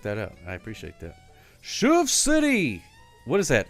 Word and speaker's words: chauve-souris: Chauve-souris.